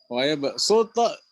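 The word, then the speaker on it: ويبصط: Waya ba'suto juga sama ya, tulisannya ternyata sod, bacanya waya ba'suto, sin.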